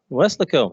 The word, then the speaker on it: Weslaco: Shane began his career in Weslaco, is that how you say it? Weslaco, there you go, Texas, where he was a